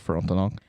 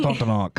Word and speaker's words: Frontenac: Yeah, I think that's just Frontenac. In Fort 15... Frontenac. Yeah, you got to say it like a Frenchman.